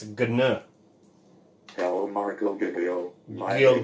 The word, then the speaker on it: Giglio: G. I. G. L. I. O. Marco, the correct pronunciation in Italy is Marco Giglio, but in